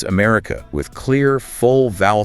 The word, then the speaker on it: America: And for longer words like America, the schwah is doing some serious rhythmic lifting. Okay, break that one down. Yes, the stress is on the second syllable.